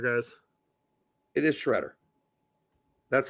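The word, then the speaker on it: Sciaretta: Spelled properly, it's the second way there, Antonio, but phonetically, it's the first one.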